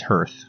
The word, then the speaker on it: Hearth: It's Hearth, like the front of a fireplace.